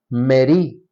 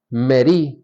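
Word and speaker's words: מְרִי: se usa para amargura es meri meri con acento en la i que quiere decir Rebeldía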